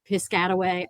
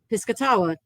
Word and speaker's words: Piscataway: of the the tribe Piscataway I will often say piscatawa which is slightly closer to the pronunciation that it would have been but neither of them